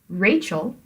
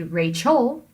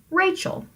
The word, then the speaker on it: Rachel: name to begin with Rachel you put the stress on the first syllable Rachel which means that it has to be a trochee right you don't say Rachel that would be trying to make it an IM when it isn't you say Rachel now let's come up